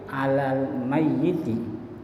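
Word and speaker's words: على الميت: Maka lafaz yang diucapkan dalam niat salat jenazah itu usolli ala haditi tuh bukan usoli ala hadati tapi alal mayyiti. Kalau dia perempuan alal mayyitati bukan alal mayyatati.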